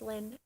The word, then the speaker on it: Lynn: My name is Lynn, and that is very conducive to oil painting jokes, because there is this particular substance called linseed oil. It's spelled with an I, but my name sounds the same, so I use it,